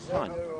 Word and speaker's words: Hun: Yeah, his name is pronounced Hun. Hun. Like Attila the Hun, you know, king of the Huns, who ended up taking over Rome.